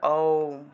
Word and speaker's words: ওম: मुचो दिवि শেষে মনে ওম। ওমের উচ্চারণটা মুখটা বড় থেকে ছোট হবে, মুখটা একদম 3 আঙ্গুল,